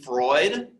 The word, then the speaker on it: Freud: down this name sigmund freud it's pronounced freud it rhymes with droid put a star by